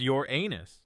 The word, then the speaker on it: Uranus: you just kidding you'd still be vaporized instantly Uranus yes it's pronounced your anus get it out of your system you'd last